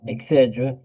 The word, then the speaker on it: y: It's pronounced E, and it means and, like A and D.